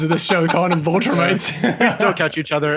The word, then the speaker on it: Viltrumite: I mean, the biggest sin was Viltrumite. Viltrumite. Yep. Oh, that one I do know well. Where I think it was Kevin. Yeah. Where I said the Viltrumite, and he's like, "You mean Viltrumite?"